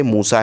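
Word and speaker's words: موسیٰ: अब जैसे लिखा हुआ है यहां पर मूसा इस तरीके से लिखा हुआ है बट हमको मूसा जो प्रोनाउंसिएशन उसका जो सुनने आ रहा है तलफुस जो है तो वो इस तरीके से मूसा है।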